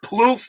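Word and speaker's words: Plouffe: hitter Swift absolutely oh it's Trevor ploof that's how you pronounce it thank you my good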